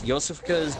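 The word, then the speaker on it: Iosefka: It's spelled I-O-S-E-F. It's Russian. It's Yosofika's clinic and Cathedral Ward.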